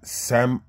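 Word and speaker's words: Siam: You got Thailand oud and Laotian oud, and you got Sami Benzoin, I believe, but it's spelled S-I-A-M.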